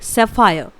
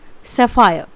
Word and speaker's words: sapphire: नीलम को इंग्लिश में बोला जाता है ब्लू सैफायर। स्पेलिंग होती है BLUE। इट is blue. SAPPHIRE। इट इज़ सैफायर, blue सैफायर। ये मैं आपको ब्रिटिश एक्सेंट बता रही हूँ।